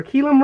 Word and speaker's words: kilim: wool it's what they call a rug or keum rug it's spelled k i l IIM and it's a